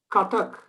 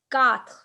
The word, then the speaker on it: quatre: Katak. Quatre. Kat. Quatre. Okay, Kat. there's no syllable breaking in it. It's just quatre.